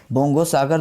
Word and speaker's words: बोंगो सागर: बोंगो सागर 2022 नौसेना द्विपक्षीय अभ्यास भारत और किस देश के बीच हुआ? तो बोंगो सागर हमें बोलने से बंगला वर्ड की तरह उच्चारण हो रहा है।